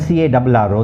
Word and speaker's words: carro: For example, in the case of C-A-R-O and C-A-R-R-O, they are so similar, but they have different meanings. So if you don't pronounce them properly, you'll be changing the meaning of the word completely.